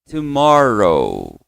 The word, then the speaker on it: tomorrow: Amanhã nós dizemos comigo tomorrow. Tomorrow. Então aqui, ó, é row, não é ho não, tá?